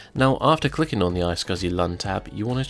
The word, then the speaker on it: iSCSI: open the Storage Manager application and select the I scuzzy LUN tab on the left now I scuzzy